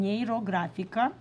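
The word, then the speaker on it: Нейрографика: neuro graphic art and he took the term neuro graphical Neera graphical this is how you say it in Russian Nero grafica you can practice saying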